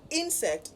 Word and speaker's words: insect: And because it is a noun and has 2 syllables, then the stress would fall on the first syllable. So it is insect.